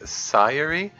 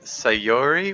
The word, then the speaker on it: Sayori: sayori and natsuki F it's best to think about each of the syllables separately if you say it really fast with a normal American accent it sounds basically like sirey rather than sayori which is different though